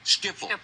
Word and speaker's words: Schiphol: What was the pronunciation, Austin? Schiphol.